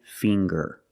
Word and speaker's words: finger: ginger very good and finger finger we see the nasal sound plus the hard G the G fing GG G finger I have 10 fingers